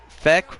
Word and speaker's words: Feck: Feck rhymes with neck, says Logan.